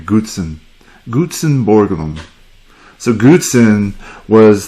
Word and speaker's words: Gutzon: a few things firstly it was how to pronounce his name Goodson Gutzon Borglum so Goodson was the son of